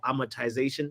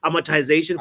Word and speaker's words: amortization: I'm I'm monetization for a lot of or amortization that's how you pronounce it amotization for a lot of like the the the